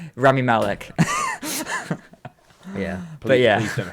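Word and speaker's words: Rami Malek: like you've got um what was his name raymie elec is that his name i think that i literally just had to read what the villain you're gonna kick yourself when i explain to pronounce remy malek yeah but yeah please don't hate me i'm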